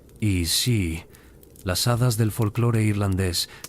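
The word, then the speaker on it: Aos Sí: Los Aos-sí, pronunciado I-sí, las hadas del folclore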